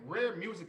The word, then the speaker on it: Rhare Muzic: you get your music from this there and rare music is pronounced spelled r-h-a-r-e music m-u-z-i-c okay so make